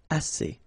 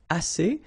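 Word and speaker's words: assez: means enough okay a remember two vowels here a and then uh and then double s so it's really strong the s a assay okay assay so same construction the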